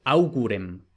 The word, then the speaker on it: augurem: este también es curioso, porque en español decimos augur, y eso en principio debería haber exigido que, por ejemplo, aquí el acusativo fuera augurem, y sin embargo no, es augurem, porque vemos que la U, que es la penúltima, no tiene macrón, por tanto no es larga, no va acentuada.